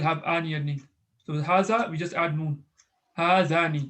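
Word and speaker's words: هذا: You just say haza. It's just written, but it's not pronounced.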